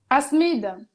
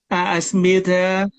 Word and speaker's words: Asmide: How do you pronounce it? Asmide? Asmide. Asmide.